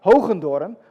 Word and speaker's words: Hoogendoorn: name is and in dutch it's pronounced holgendoren but nobody can pronounce